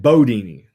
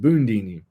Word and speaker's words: Bundini: Ali Entourage they said bodini Ali had that Louisville Kentucky accent so he pronounced it bodini but if you go by the spelling of the word it's pronounced bondini but his son taught